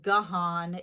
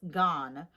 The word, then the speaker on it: Gahan: I cannot stand when people mispronounce his name. It's not Gahan, it's not Gan, it's Gahan.